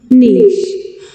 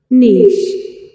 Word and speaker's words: niche: OK, 哎，我们试着去听 Carriage 字典的发音哈。OK，哎， niche, niche, niche.